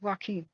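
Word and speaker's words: Joaquin: CH jakan jaka jaqua no it's Walkin okay like Walkin Phoenix no I know most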